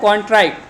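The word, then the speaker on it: contrite: तो इसका प्रोनाउंसिएशन आपको याद रखना है कॉन्ट्राइट। कॉन्ट्राइट इसका प्रोनाउंसिएशन है।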